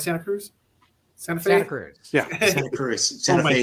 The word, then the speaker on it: Santa Cruz: Santa Cruz.